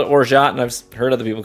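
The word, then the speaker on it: orgeat: I think the I think the actual pronunciation is like Orza or something like that, but it's spelled o r g e a t. So I've I've just always called it orot and I've heard other people call it orot.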